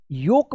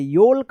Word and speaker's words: yolk: YOLK, क्या पढ़ेंगे इसको, योक पढ़ेंगे, योल्क मत पढ़िएगा, योक पढ़ेंगे।